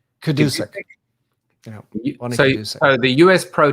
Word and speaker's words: Gadusek: Gadusek? Kadusek.